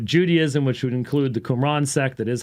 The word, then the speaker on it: Qumran: gnosticism stoicism kikero judaism which would include the qumran sect that is how you say quran uh